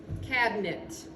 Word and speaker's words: cabinet: e so this is you could say cab uh because this would be a schwa cabinet and this is a schwa it but most people say cabinet cabinet so sometimes we're going